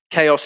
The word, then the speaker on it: chaos: example we've got chaos chaos is pronounced with a silent h but what are the